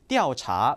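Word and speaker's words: 调查: 티리와 같은 경우 그렇지만 조사한다 알아본다 움직임의 등 의미를 나타낼 때는 항상 띠라는 발음으로 읽혀야 됩니다 마찬가지로 그래서 띠오 차 띠아오 차 조사하다 동사가 되겠고요 세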